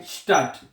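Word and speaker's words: Stadt: शहर शहर को जर्मन जुबान में कहते हैं स्टट।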